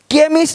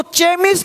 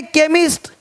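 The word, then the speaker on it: chemist: पता हो साउंड आपको केमिस्ट अब इसको चेम नहीं पढ़ेंगे चेम चोपड़ा को कोपड़ नहीं पढ़ेंगे इसको चेम नहीं पढ़ेंगे केमिस्ट अब देखो चोलर नहीं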